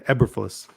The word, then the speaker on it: Eberflus: Eberflus, right? Is that how we pronounce it? Yeah, Eberflus. Matt Eberflus.